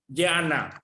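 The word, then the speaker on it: jñāna: Leong, this type of J and A basically we pronounce by ignoring the J. It is correct in English, Mr. Leong? Correct, we just ignore the J, right? Yana.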